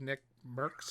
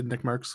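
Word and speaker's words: NickMercs: jan lopez we have nick merks that's how you say his name yeah i'd say nick marks yeah tim the tatman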